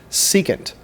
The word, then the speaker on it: secant: term here is the word secant this is pronounced secant a secant is a line that intersects the